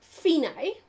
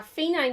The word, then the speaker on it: fine: of the second line dc alphone it's actually pronounced phenae and it means end so uh phenai means n dc alphena is short for da